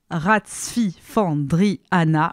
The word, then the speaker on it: Ratsifandrihana: grouve la merveilleuse danseuse SOA ratsfiandri an oui ça se prononce comme ça il dresse son autoportrait